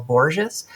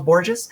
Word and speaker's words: Borges: Uh a news story broke that chief data officer of the Social Security Administration Charles Boures uh filed I I hope that is pronounced somewhat like Erns Borgenine. Uh Charles Boures uh filed a protected